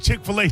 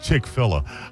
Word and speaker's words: Chick-fil-A: Oh, I'm sorry. Chickfila. Uh, how do you say it? Chick-fil-A.